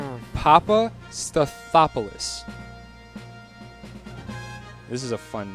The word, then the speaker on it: Papastathopoulos: His name is Socrates Papastathopoulos.